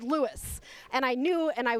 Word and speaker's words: Louis: And Becky also suggested that St. Lewis is pronounced Lewis, like Lewis.